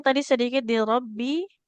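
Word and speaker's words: رَبِّ: Afwan, untuk bacanya tadi sedikit di Robbi. Robbi tidak panjang mbaknya. Huruf kasroh panjang kalau ada huruf ya di depannya ya.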